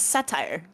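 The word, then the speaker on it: Sateire: I had another please uh my name is satire satire satire and they take off their their Hood how do I spell that satire they take off their hood and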